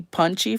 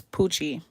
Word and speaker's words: Pucci: so many different ways a lot of people call me punchy for some reason because I don't know why because there's no end but it's Pucci you can use tulle but